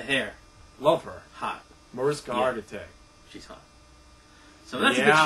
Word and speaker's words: Hargitay: The chick Hargitay? She just had a That's kid. That's not the way you pronounce it. Want to try that again, buddy? Hargitay. There you go.